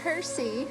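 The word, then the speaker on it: Percé: just really love it here we are in Percy right now that's how you say it and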